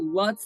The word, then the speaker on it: Lutz: Will Lutz, the guy who rhymes with Utz chips, man.